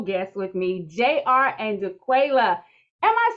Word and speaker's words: JaQualia: Which is the right pronunciation? It's JR. You got it right. No, you got it right. It's JaQualia.